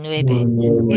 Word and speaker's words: nueve: Ciento Ciento setenta y nueve. y nueve. We smile at the end of nueve.